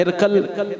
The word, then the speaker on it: ہرقل: من قریش، ہرقل بادشاہ، ہماری زبان میں اس کو لفظ بولا جاتا ہے ہرقل، اس کا اصلی تلفظ جو ہے وہ ہرقل ہے، قاف کے اوپر جزم کے ساتھ، ہرقل۔ ہرقل نے بھیجا